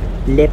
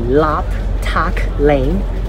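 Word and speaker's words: Lap Tak Lane: Now actually it should be Lap Tack Lane, but because of AI generated announcements, it pronounces it as lip. Yes, lip. Yes, it should be lap, but lip Tack Lane.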